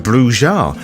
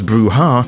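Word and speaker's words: Brujah: that I spelled the word differently the clan is spelled bruja with a h not bruha without a h bruha is a Spanish word meaning witch or sorceress but bruja Isn't So pronouncing bruja as bruha is phonetically incorrect but as I'm just some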